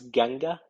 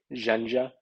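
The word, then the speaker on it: ϫⲁⲛϫⲓⲁ: This one I pronounce Ganga. I know that like uh, other people pronounce it as like Janja, and that used to be a difference in Old Bahiric. Uh, Ganga always made a J sound, but as time went on, it developed the two pronunciations J or G, just depending on what comes after it.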